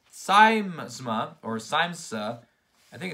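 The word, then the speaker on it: Siamsa: say that wrong but it's called Sima or simsa I think it's simsa siemsa how do you look this up a few moments later and we are back it's pronounced siemsa a Celtic Christmas it took me five minutes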